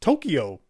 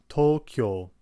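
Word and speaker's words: 東京: Tokyo, Tokyo, Tokyo, versus Tokyo, Tokyo. You may also notice how it's actually the U sound in this case, which is extending the O vowel sound.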